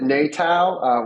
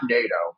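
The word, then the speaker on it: NATOW: Wisconsin or NATO and I always say pronounce it natal we are a democratic organization where all 11 federally recognized tribes have an equal say and a representative but we are not NATO we are not solving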